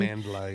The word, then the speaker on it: Amandla: nother generation of Amandla, is that how you pronounce her name? Amandla, yeah.